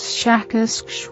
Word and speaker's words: Shakask: human letters, something like Shakask, with a very strong pronunciation of the SH and K sounds.